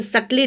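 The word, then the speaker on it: subtly: तो होते हैं लेकिन सकली डिफरेंट सकली देखिए लिखा हुआ है आपके बुक में एस यू बी टी एल वाय सकली बी साइलेंट है सकली का मतलब होता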